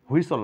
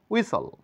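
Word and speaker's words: whistle: when হুইসল বলে থাকি হুইসল না উইসল উইসল উইসল এখানে উইস্টল টিটার কোন সাউন্ড নেই হোয়াইট না বলে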